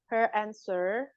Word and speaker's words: answer: Her answer to your question is in this envelope. Yeah. Her answer to your question is in this envelope. Answer. Jadi W-nya nggak dibaca.